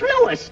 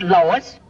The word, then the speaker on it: Louis: the plant Lois Lois my name is Lewis not Lois Jake Williams everybody in toy believes me name wrong it's Lewis l o u i s Lois uh Louise